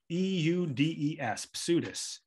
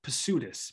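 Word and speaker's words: ψευδής: false Witnesses is p-s-e-u-d-e-s pseudus now if you're pronouncing Greek words well if you're pronouncing English words the p is silent if you are pronouncing Greek words the p is pronounced so it's pursuitous p-s-e-u-d-e-s for false and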